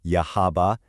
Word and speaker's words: Yahaba: Let's take a look at a real-world case study, the town of Yahaba, that's pronounced Yahaba, in Japan.